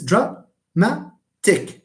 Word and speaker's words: dramatic: this is trtic you put some silence between syllables and you will see this is dramatic so it's dramatic okay good are there any uh other questions